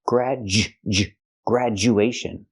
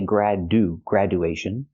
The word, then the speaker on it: graduation: With all these words, the du makes the j sound. Again, graduation. We don't say graduation, and we don't say graduation. No, we say make that hard sound. Graduation. Education.